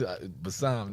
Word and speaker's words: Bassam: It's Bassam.